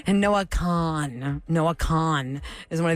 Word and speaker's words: Kahan: say that Noah Noah but how do you say k a h a an k a con yeah it's con but a lot of people say Noah Kahan Noah Kahan Noah Kahan it's Noah Khan uh we had great